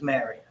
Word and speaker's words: Marriott: It's not Marriott. Let's learn now before they get here to pronounce it properly. It's Marriott. Somebody told me that last week that it's important. Little things matter. Make a good impression on these people. It's marri.